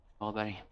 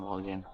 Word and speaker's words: Wahlberg: Pronounce his name. Wahlberg, not Wahlgren.